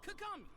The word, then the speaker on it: Kagami: Why you gotta say it like that? It's Kagami. Okay.